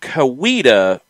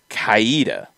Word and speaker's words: Coweta: for a loop um mazano is saying kowita yeah i i i've heard kuwita and i've heard that more than kaida yeah um soccer for